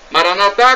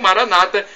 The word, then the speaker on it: Maranata: Maranatá com a tônica na última sílaba, como dizemos nós católicos, ou Maranata com a tônica na penúltima sílaba, como dizem nossos irmãos separados, nossos irmãos evangélicos ou protestantes.